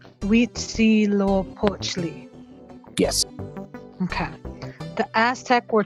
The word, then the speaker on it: Huitzilopochtli: Huitzilopochtli. Okay. Are you making the "w" sound with the H? We. Like in Spanish, the H is silent. Okay. Huitzilopochtli. Huitzilopochtli.